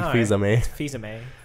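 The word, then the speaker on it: Fils-Aimé: look Reggie Reggie's yeah Reggie fizz was I mean Reggie fils-aime he's a man who's armed a little spell that way fils-aime Reggie feels anime then they announce Super Mario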